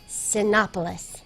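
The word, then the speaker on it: Cinépolis: How do you say that? Huh? Cinepolis. I think you got it right the first time.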